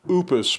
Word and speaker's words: Oupes: that I haven't opened I think this might actually be pronounced Opus because their slogan is no power oops with Opus ois focuses on environmental